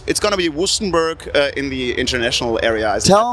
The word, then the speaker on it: Wüstenberg: Wüstenberg. Wüstenberg.